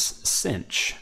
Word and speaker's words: sinh: For shorthand, especially in North America, you will hear this sometimes pronounced as sinh, so you may read this equation as y equals sinh of x instead of hyperbolic sine.